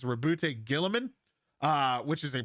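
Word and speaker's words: Roboute: gonna end up being rebute which is how you say it's rebute Gilman uh which is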